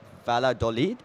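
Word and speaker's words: Valladolid: And full time full time 2-0 beating Ra Valad uh Valadolid sorry keep saying it wrong and that should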